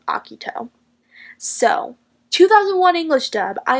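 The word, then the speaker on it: Akito: of the 2001 version I was led to believe that he pronounced Iquitos name as a Kido but the original anime got that wrong because I went back and watched the Japanese version of the original anime and in that version they pronounced aki toes name as akuto so 2001 English dub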